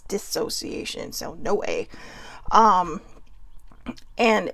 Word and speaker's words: dissociation: was actually mispronouncing it i was calling it disassociation but it was dissociation so no way um